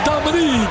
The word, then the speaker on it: Dominic: Yes, not Dominic, it's Dominique. An outstanding. That's right. And it's spelled Dominic, pronounced Dominique.